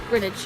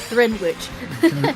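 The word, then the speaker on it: Greenwich: It's Grin Well, we sort of pronounce it Grinage or Grinidge. Yeah, like like I like spinach. Spinach nice.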